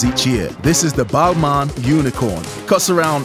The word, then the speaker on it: Balmain: out to them and they said it's Balman not Balmain balma and so who knows